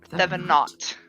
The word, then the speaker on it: Thevenot: Like I always thought it was French, but he was on Finatra's today, and it's like Thevenot. He pronounced that T.